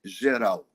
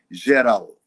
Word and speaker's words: Geral: When I heard the group called Brasilidade Geral. Brasilidade Geral. Brasilidade, maybe we should spell that, you know. It's like Brazil with the S, BRASILIDADE, Geral, GERAL, Brasilidade Geral.